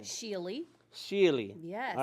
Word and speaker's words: Schiele: Schiele. Schiele. Yes. All right, you say all the words, all the word letters, the consonants and the vowels, everything. Schiele. Nice. It's German.